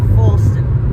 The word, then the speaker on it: Falston: Falston. Rhymes with Halston. Right, Falston.